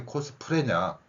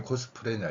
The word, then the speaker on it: 코스프레: 일본인들이 교묘하게 만들었죠 그러면 코스플레이 코스플레이 이렇게 표현하면 좋을 건데 왜 갑자기 코스 프레야 예 왜 발음이 코스 프레야 이거예요 리을이 한 번밖에 안 들어갔죠 애를 그냥 무조건 리얼이라고